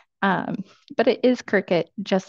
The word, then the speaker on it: Cricut: an in-depth look into Cricut machines, their accessories, potential uses, and more. And if there was any confusion on how to pronounce Cricut, it is indeed said just like the bug, which is why earlier